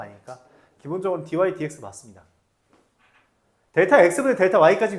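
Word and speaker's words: dy/dx: dy, dx라고 있습니다. 이거 dx분의 dy라고 읽으면 안 돼요. dx분의 dy 아닙니다. dy, dx예요. 그렇게 읽어요. dy 나누기 dx라고 읽지도 않아. 그냥 dy, dx가 이름이에요.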